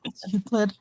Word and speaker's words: Euclid: It's Euclid. Don't know Before- how to pronounce it.